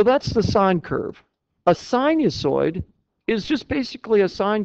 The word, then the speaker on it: sinusoid: Sinusoid is spelled S-I-N. Thank you. Sinus on oids. Okay, sinusoid. Sounds like a dinosaur.